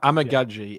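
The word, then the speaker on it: Amegadjie: it was amaji or amig gaji correct amag amig gaji is yeah I saw an interview with him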